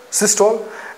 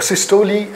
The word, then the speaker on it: systole: The contraction is referred to as the systole, and the relaxation is known as diastole. The systole and diastole, or systole or diastole, as you may pronounce it.